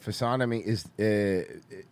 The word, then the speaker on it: physiognomy: Merce, the G in physiognomy is silent, not the N.